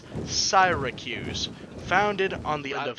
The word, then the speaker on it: Syracuse: city being siren Hugh's we want to say it's Syracuse because that's you know how the US city is pronounced but it's saira Q's founded on the end